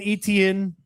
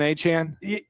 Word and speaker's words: Etienne: So Travis Etienne, who's been Etienne his entire he pulled an H-Chan? Literally. That's what he's saying is his name now.